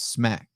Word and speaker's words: Smac: his name is smack it's smac but it's pronounced as smack okay um he sent